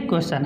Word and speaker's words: question: यहाँ पे देखिए क्वेश्चन, हमने कहा कि यस से चन कब पढ़ेंगे, जब यस के बाद TION आए तो उस समय।